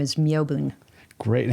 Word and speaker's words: Myobun: My Dharma name is Myobun. Great. And how do you like to be referred to? Myobun is a little hard to pronounce. Myobun? Yeah, people will often confuse it with Melvin, so.